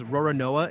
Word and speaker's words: Roronoa: Japanese doesn't have an L sound at all. The L and the R collapse into one single row of syllables. So, Lolonois, run through Japanese, comes out Ro-Ro-Noa.